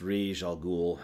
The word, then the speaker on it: Ra's al Ghul: brain flew off yeah I know it's pronounced rish al Ghul I don't care I'm